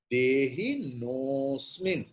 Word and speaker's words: देहिनोऽस्मिन्: But according to Sandhi rule, the naha becomes no. And that avagraha, the a sign you are seeing, this is instead of a, it has been placed, but the pronunciation of akara will not be there. What it will be? The previous vowel o will be prolonged.